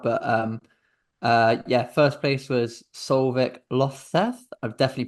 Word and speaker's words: Solveig Løvseth: But yeah, Solveig Løvseth, not Solvi.